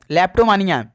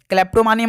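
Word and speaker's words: kleptomania: के इसमें साइलेंट है। ध्यान रखिएगा। लेप्टोमिया सी ऑप्शन बिल्कुल राइट आंसर है। क्लैप्टोमिया मत पढ़ दीजिएगा। लेप्टोमिया है।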